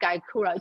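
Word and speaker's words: Gyokuro: I cannot even spell it myself. G-Y Gaikura.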